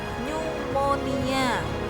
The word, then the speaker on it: pneumonia: Nomor 7 itu cara bacanya pneumonia.